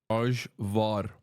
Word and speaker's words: Ajvar: And for the chatters correcting me on the pronunciation, I don't give a fuck. That's how you say it in Turkish. Ajvar. Ayvar, for fuck's sake.